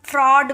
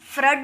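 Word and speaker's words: fraud: निकलेगा तो इसे हम फ्रॉड बोलेंगे ए यू को हम अ नहीं फ्रड नहीं बोलेंगे इसे अ में साउंड निकालेंगे फ्रॉड okay F आर ए यू डी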